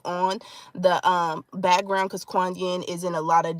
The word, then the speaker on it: Kuan Yin: spelled differently depending on the um background because Kuan Yin is in a lot of different um pantheons